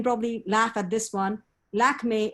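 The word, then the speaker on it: Lakmé: laugh at this one lakme is the french pronunciation of the goddess lakshmi growing up in india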